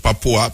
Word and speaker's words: Papua: come from west papa how them pronounce it papua p a p u a yeah you know them